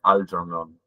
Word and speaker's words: Algernon: Le voy a decir Algernon durante la clase porque todavía no tengo ensayado la pronunciación, pero cuando lo querés pronunciar bien, que se note, es Algernon. Yo no lo voy a pronunciar así mucho, pero bueno, quedan enterados de esto.